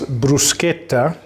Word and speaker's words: bruschetta: going to do is teach you how to pronounce Bruce katha to duplicate what you do is toast bread